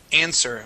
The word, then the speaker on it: answer: in it but um The W silent okay so instead of saying answer the word is answer with a silent W try that please answer